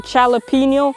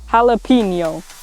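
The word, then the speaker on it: jalapeño: By the way, I was saying jalapeno, but the correction for how to pronounce it is jalapeno.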